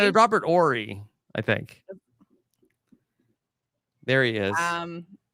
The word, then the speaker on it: Horry: Now, Jenny, allegedly, Robert Horry is here. Is it this person was not on the show? Do you pronounce the H? Horry? Or is it Ori? Ori. A silent H? Yeah.